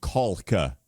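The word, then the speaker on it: Kalk: Just pronouncing what we've been pronouncing the L, you know, Kulka. There's an L in there, people.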